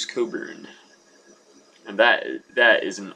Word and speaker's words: Cockburn: i'd pick it up it's spelled bruce cockburn but right here it says pronounce coburn so we'll say bruce coburn and that that is